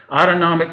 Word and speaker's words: autonomic: system that's more automatic autonomic rhymes with automatic and there are certain